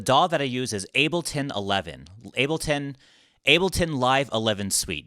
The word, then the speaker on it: Ableton: To answer your question, the DAW that I use is Ableton 11.